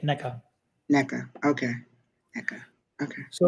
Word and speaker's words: Neca: She put neck, NECK, so it's NECA. Yeah, she said my first name is pronounced like neck-a, NECA.